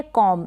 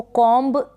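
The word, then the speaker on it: comb: फिर ये है कॉम, इसको कॉम्ब नहीं पढ़ेंगे, कॉम पढ़ेंगे, बी साइलेंट है।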